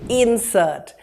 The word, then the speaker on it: insert: here's your next word as a noun we'll say insert put a couple of inserts in this text the verb form will be insert he inserted a few words into the paragraph your next word is up on